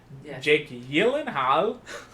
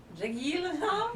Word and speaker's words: Jake Gyllenhaal: repeat how do you say his actual name I saw it recently Jake yenal Jake yenal yeah yeah that's how cuz it's like Norway or something is it yeah you